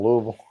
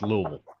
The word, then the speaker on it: Louisville: from downtown Louisville. Well, at least you can pronounce it right. It's Louisville, not Yep, Louisville.